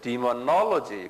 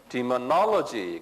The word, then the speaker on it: demonology: 이게 demonology 그래. 액센트가 여기 있어요. demonology 그래.